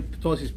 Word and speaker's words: ptosis: Usually ptosis P, you may not read it, like it's like a little bit silent. Not everything silent, but like 2/3 silent.